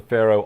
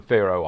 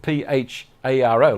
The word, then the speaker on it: Faroe: Do some reading up on the Faroe Islands. Faroe, I think is how you pronounce it. I started Pharo, like Pharaoh from Egypt, and I thought, well, I can't find them.